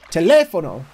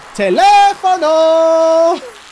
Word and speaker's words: teléfono: joke from Spanish class, very few people could say teléfono right because they didn't put the emphasis on the second A. Teléfono.